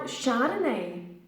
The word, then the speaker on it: Chardonnay: would you like a glass of Shiva's now Chardonnay Chardonnay is originally from friends but it is